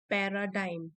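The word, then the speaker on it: paradigm: द पैराडाइम shift, इसकी pronunciation है पैराडाइम, पैराडाइम shift.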